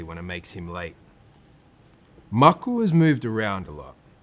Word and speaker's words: Maku: "M-A-K-U, spells Maku proudly. "You say it like mug, the cup you drink tea out of, and ku, the sound an owl makes. Maku.